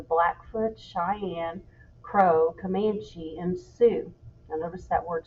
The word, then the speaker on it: Sioux: cheyenne crow comanche and sioux now notice that word sue the x is silent the plains was also